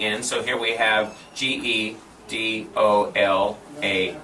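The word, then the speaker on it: גדולה: Okay, you're almost giving an equal sound, but gedola is the sound of the vowels. Gedola. Gedola. Gedola. Gedola. In other words, you have to shorten this E sound, gedola.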